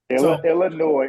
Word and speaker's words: Illinois: come on now okay Illinois is the correct pronunciation but Illinois it Rose off the tongue better it just does I'm forcing myself to I'm stopping short it's like you you're stopping the route short when you say Illinois I mean you're not wrong he's not wrong it just sounds better I know the correct pronunciation to